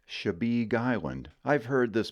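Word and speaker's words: Chebeague: located in the Portland Harbor and it is pronounced shabig Island I've heard this butchered sundry ways but my favorite is chebigu over on the other side of the state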